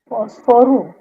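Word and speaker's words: fósforo: Phosphoru. Mhm. No. Yes. Yes. Kind of. Yes. This word is phosphoru. Phosphoru. So only false is extended rest of it is small phosphoru poso.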